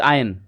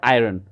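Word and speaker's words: iron: से आयन मैन एंड इट्स आयन okay not आयरन world संसार एज यू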